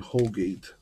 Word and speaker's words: Holgate: mcgreevy nickasy byers and holgate rhymes with colgate which reminds me i